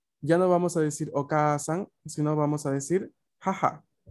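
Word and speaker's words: お母さん: que significa mamá, es okasan. Okasan. Ay, minasan, todos. Okasan. Okasan. Okasan. Como podemos escuchar, la A es más larga respecto, ¿no?, a la A normal que pronunciamos nosotros en español.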